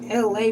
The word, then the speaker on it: Elay: I'm your girl, aka the host, LA, pronounced like LA, like the city.